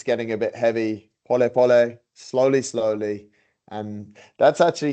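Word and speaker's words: pole pole: and it's spelled Paul Paul but they they pronounce it po po which just means slowly slowly nice yeah the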